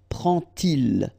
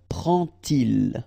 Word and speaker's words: prend-il: to show you that you won't pronounce it like D to make the liaison, but you will pronounce it like T. And so you will get prend-il. Prend-il, okay?